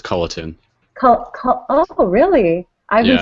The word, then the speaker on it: Culliton: then what is it it's cullington right there's just no G so it's ctin oh really I've been